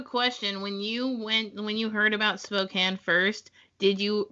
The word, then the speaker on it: Spokane: I am from Louisville, Kentucky, and have recently transitioned to Spokane, Washington within the last month. I have a question. When you heard about Spokane first, did you pronounce it Spokane or Spokane?